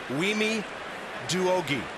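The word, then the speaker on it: Wiemi Douoguih: she gives me a tutorial on how to pronounce the team doctor's name. I totally messed this up. Wimi Duogi.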